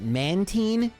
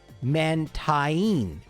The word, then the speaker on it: Mantine: If we pronounce both vowels separately, mantine or mantine, which is what they were going for, even though if you were to read this in English, it would be mantine.